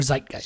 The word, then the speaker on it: Zeitgeist: Zeitgeist or Zeitgeist?